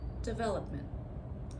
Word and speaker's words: development: So I didn't change the original stress of develop develop. So as you can hear develop I stress the second syllable and when I say development same thing stress the second syllable development.